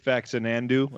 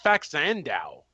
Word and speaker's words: Faxanadu: I think I used to call it as a kid Faxanandu. I think that's right. Well, I never got pronunciation right anyway. Da-da-da. But I just I was it looked like Faxanadu.